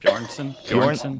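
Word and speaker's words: Björnsson: Bjornson.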